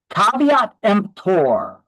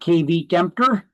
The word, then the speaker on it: caveat emptor: Uh, if it's not new construction, caveat emptor, that's how it's pronounced. It's not KV Kempter.